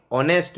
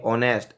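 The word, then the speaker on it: honest: कैसे समझते हैं, ही इज एन ऑनेस्ट मैन, यहाँ पे ध्वनि निकली ऑनेस्ट, अ की ध्वनि निकली तो अ से पहले एल एन लगता है।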